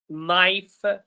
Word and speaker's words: knife: Knife, he added the K that I did not hear.